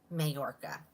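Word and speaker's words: Mallorca: Mayorca. I just remember in Spanish class when the two L's are together, it makes the Y sound.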